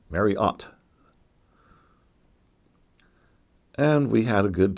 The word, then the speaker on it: Marriott: Marriott's Great America and I was used to pronouncing it mariette but while we were there they kept saying Marriott's Great America emphasizing the OT at the end Marriott and we had a